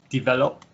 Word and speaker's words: develop: Develop. Okay. So this is like pronounced like an it. So develop.